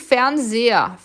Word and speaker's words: Fernseher: Atenção para a pronúncia de Fernseher.